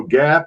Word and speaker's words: GAAP: glad to do that so gap and you'll notice it's spelled with uh two a's is generally accepted